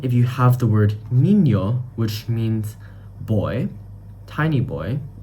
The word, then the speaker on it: niño: Then if you have the word niño, which means boy, tiny boy, niñito, so niño would be pronounced N-I-N-O in English, but then in Spanish, we would pronounce it as N-E-N-O.